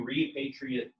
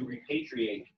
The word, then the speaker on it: repatriate: To repatriate or to repatriate is to come back to your country. A repatriate is someone who has come back to their country. So just depending on how you pronounce it, it's either a noun or a verb.